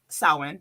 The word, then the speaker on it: Samhain: It's like, I think Halloween and we also celebrate Samhain because that's how it's pronounced.